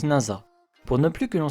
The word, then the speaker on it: Nasa: nasa un collégien studieux s'écrit avec le camp dit de nuit étoilée mais il se prononce nasa pour ne plus que